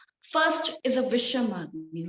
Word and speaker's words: Visham: First is a Visham Agni. Visham, the pronunciation is Visham.